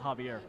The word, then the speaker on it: Xavier: the other day that Xavier is pronounced Javier oh Javier so I